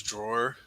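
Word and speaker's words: Dror: Uh both Motier and Runer recognize that as drawer. It's spelled D R O R by the way if that matters.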